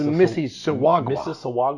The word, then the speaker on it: Mississauga: Swiss conference in Mississauga, Ontario, Canada. Is it Mississauga? I thought it was Mississauga.